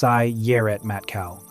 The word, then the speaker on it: Sayeret Matkal: The most commonly named source is Sayeret Matkal, pronounced Sayeret Matkal, the reconnaissance unit whose former members have included future prime ministers.